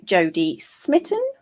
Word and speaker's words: Jodie Smitten: i am and i'm joined today by jodie smitten i didn't actually check that i'm pronouncing your name correctly yeah that's right fantastic